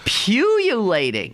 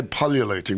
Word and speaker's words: pullulating: Pululating? Pululating, like popping up all over the place. So how's that spelled? Well, some people say pullulating, but the British say pululating.